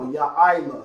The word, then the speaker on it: Yaila: Like the YA there, I, which is how we have it right now, and La. So Yaila.